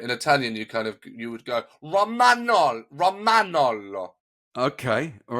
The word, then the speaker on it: Romagnolo: so you would pronounce the A. You wouldn't say, you're dropping the A like you would in English, but in Italian you would go Romagnolo.